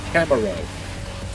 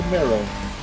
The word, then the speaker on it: Camaro: I got to say it like they say in this game. The Camaro. Not the Camaro. Camaro.